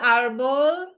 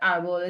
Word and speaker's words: árbol: And if it ended in an L, like árbol ends in an L, normally the stress would fall on the last syllable. So it would be árbol. But árbol is special, right? Accent is on the first syllable.